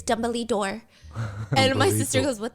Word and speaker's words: Dumbledore: It's pronounced dumbly door.